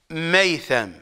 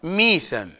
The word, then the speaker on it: ميثم: ابن مظاهر وميثم التمار لا كما يتلفظ على الالسنه ميثم التمار ميثم بكسر الميم وميثم التمار ورشيد الهجري